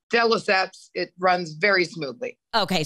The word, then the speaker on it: de Lesseps: Luann de Lesseps. Have I ever said that right? No. Have I ever pronounced it correctly for me? It's de Lesseps. Just let it roll off your tongue. De Lesseps.